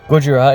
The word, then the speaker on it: Gojira: Gojira is pronounced as Gojira in Japanese.